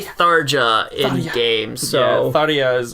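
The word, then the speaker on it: Tharja: no matter what look it's Darja yeah or thoria I don't care they say Darja in the game so adios how they pronounce it in Japan I'm pretty sure yeah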